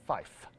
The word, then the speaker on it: five: n/m have you guys noticed the way I pronounced three and five have you noticed that tree and Fife I do that on purpose why do I